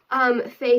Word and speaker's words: fae: And so the last two, you pronounce the first one, fey, fair, and so it's FAE/FAER.